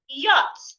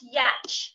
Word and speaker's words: yacht: Say yacht, not yet. The C and H in this word are silent.